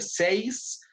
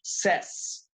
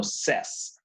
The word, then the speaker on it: says: Ya no, esto no se pronuncia says, sino se pronuncia says, sin I, ¿no? Entonces, sin la S, say, pero con la S, no says, sino says.